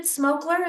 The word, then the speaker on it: Smokler: Is it Smokler? Is that how you pronounce it?